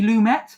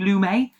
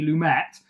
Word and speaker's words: Lumet: Uh, directed by I think it's pronounced Sydney Lumett. I think when I said it before I said Sydney Sydney Lumin he was like French but yeah I think